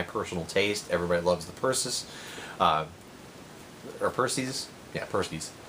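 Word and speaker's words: Perseus: taste everybody loves the purses our Percy's yeah purse knees it's Greek mythology name so yeah it would be pronounced Percy's everybody loves that everybody's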